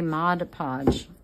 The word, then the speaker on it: Mod Podge: it and then I kept hearing people say mod podge and I thought they were saying it wrong